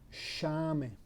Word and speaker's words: sciame: In this case, you don't pronounce sciame, or you pronounce shame, shame.